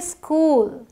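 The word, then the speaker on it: school: हम स्कूल बोलते हैं बट बहुत सारे लोग इसे स्कूल बोलते हैं वो बोलते वक्त हिंदी वाली आदत होती है ना तो वो बोल देते हैं स्कूल इस स्कूल बोल देते हैं सॉरी बट ये इस नहीं है ये आधा स है इसे आप बोलेंगे स्कूल स्कूल तो फिर आगे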